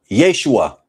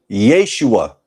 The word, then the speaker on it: Yeshua: The name of the Messiah, from my research, is pronounced Yahusha, Yehoshua, Yeshua.